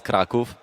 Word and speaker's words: Kraków: It's gonna blow your mind, but it's Kraków.